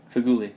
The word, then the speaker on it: Feghouli: you say his name is his fig leaf feghouli yeah um paddy Carol and yeah Antonio michail